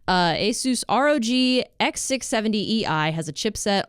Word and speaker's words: Asus: Tom's Hardware Asus as I learned that it's pronounced uh Asus Rog x670ei has a chipset on a pcie